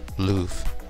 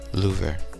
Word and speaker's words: Louvre: google says that american pronunciation loof or french pronunciation louver luffer or lu